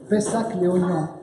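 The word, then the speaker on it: Pessac-Léognan: I know you would like to spell it, so it's Pessac Léognan.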